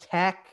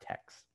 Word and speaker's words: TeX: like that in terms of pronunciation it is pronounced tech it's um pow epsilon chi representation of that's